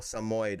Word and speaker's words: Samoyed: Two syllable. Samoid.